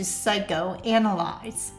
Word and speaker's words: psychoanalyze: The psychiatrist was psyched to psychoanalyze.